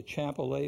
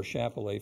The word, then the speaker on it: Chappellet: Sonoma they're members of the chapel a family or Chappellet family depending on your pronunciation limited-production pinot noir chardonnay